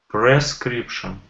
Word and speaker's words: prescription: Oh, I heard per. I don't want per. Try again. Prescription.